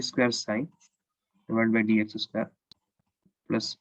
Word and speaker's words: psi: This is written as psi, but it is pronounced, the p is silent, it is pronounced as psi.